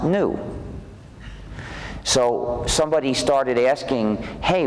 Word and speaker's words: gnu: so funny it's because according to the dictionary it's pronounced new so somebody started asking